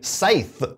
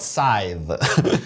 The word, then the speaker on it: Scythe: my number 18 is from the same company scythe or you might call it scythe it's up to you what's the right way to pronounce it do you go with the dictionary or us so sight this is also from stone mired games and